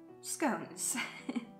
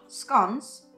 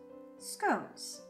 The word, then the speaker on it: scones: of all baked goods scones not scones scones it's logical sense for that to be the pronunciation scones so let's start at